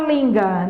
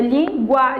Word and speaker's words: língua: terminada em de tongo igual língua você não fala linga né ah linga é lingua isso aqui são dois sons é um de tongo